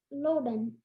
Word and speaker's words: loden: it's a common noun am I pronouncing it correct Lan yes and contestant I'm going